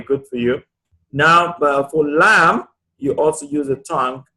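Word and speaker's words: لام: So this its articulation point is in the front edges of the tongue, whereas the body is from the posterior edges of the tongue.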